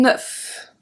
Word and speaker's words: neuf: Un nœud, open sound, un neuf. Un neuf. So here we have something at the end. We have the F and we pronounce it.